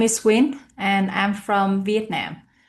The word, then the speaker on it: Win: So my name is Win and I'm from Vietnam and uh my name can be pronounced like W I N and uh I